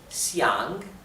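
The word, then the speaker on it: 想: o desear les expliqué es siang siang bien con el tercer tono descendente ascendente siang siang eh llega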